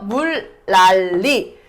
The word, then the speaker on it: 물난리: 물라가 되고 요 니은은 뒤에 있는 리을의 영향을 받아서 어떻게 된다? 리을로 돼서 물랄리 이렇게 발음된다 이거예요.